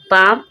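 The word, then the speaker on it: palm: हम और देख रहे हैं, एल के बाद जब एम आए, एल के बाद जब एम आए, एल के बाद एम आ रहा है, जब भी एल साइलेंट है।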